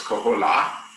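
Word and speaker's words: koholā: So the whale, the humpback whale in Hawaiian is called the kohola. The accent over the A is the emphasized syllable, so it's kohola.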